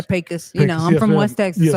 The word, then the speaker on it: Pecos: You say Pecos. I say Pecos.